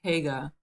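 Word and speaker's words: Haigha: His name is Haga. He pronounced it so as to rhyme with mayor.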